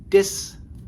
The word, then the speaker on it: dís: the phrase is uh the D High tone I and the S together and that is pronounced this this all right we'll put